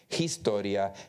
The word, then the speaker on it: Historia: I remember porque para mí it was Historia, Hernández, Hermosa. I pronounced the H. When I tried the best I could, but nobody told me that the H era muda.